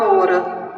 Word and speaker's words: hora: pouco, nós veremos que o som do H, ele não existe na palavra hora. O H, ele é mudo. Se eu tirar o H, eu vou dizer hora e com H, hora. Porque o H, no início da palavra, iniciando a palavra, ele não possui som. Ele tem letra, sim, mas ele não tem som.